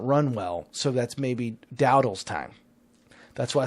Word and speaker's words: Dowdle: Because if they want to run, they're going to run Dowdell. Is that his last? How did I spell it? Am I saying that? No, it's Rico Dowdle.